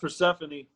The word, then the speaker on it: Persephone: It's pronounced Persephone, but Okay.